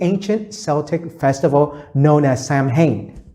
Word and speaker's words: Samhain: ago to the ancient Celtic festival known as Samhain, right? Or it's pronounced Samhain.